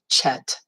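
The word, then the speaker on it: חית: It's not chet. Some people pronounce it that way. It's not that. It is chet. Like you're having a loogie problem.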